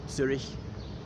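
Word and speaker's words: Züri: of villages just outside Zurich. So Zuri, as it is in the Swiss German.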